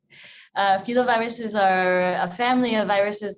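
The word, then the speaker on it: filovirus: answer your first question so fetal viruses i pronounce it a bit differently than you henry fila viruses are a family of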